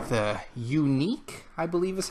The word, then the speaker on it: Yuneec: this thing called the unique I believe is how it's pronounced it spelled y un e e C it's a very unique spelling of unique if that's how you pronounce it the unique breeze this is a